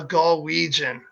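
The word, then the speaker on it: Galwegian: called a con region a Galway j'en correct rhymes with Norwegian okay so lots in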